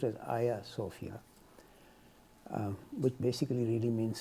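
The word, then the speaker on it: Hagia Sophia: Turkey the building is called a sopia like haia sopia but it's pronounced as a sopia um which basically really means sacred Temple essentially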